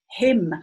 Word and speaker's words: hymn: Anyway, here's another word, hymn. A hymn is what people sing in church, right? But we go, and the sound stop here at the N. The N is silent, so you cross it.